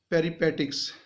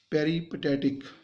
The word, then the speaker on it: peripatetic: उसके जो स्टूडेंट्स थे वो जो थे वो teaching his students called पेरीपेटिक्स, sorry, the correct pronunciation is peripatetic।